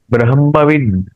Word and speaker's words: ब्रह्म: पुरुषोत्तम योगो नाम पंचदशोध्याय ब्रह्म ब्रह्म इसका उच्चारण ब्रह्म ब्रह्म ह का उच्चारण पहले होगा ब्रह्म ब्रह्म या है